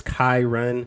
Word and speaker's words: Kyrun: you asked all right the correct way to pronounce my name is Kai Run if you wanna run I also uh so